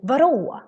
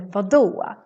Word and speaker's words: vadå: Sometimes you can hear people say varå, varå instead of vadå. So sometimes the D can sound a little like an R in Swedish.